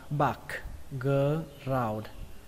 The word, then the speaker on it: background: Từ tiếp theo các bạn đọc là background. Đọc nhanh là background, background. Các bạn nhớ kết thúc bằng âm D nhé.